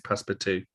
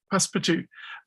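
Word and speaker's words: Passepartout: thinking of passport um it's spelt like pass support but it it is passparty pass for two um they really they're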